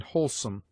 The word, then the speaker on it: wholesome: In whore only, and sometimes in wholesome, WH is sounded like simple H.